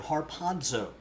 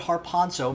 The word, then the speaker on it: harpazo: Greek the word for rapture is the word harpazo harpazo and if you want to know how to spell that we would transliterate that into English har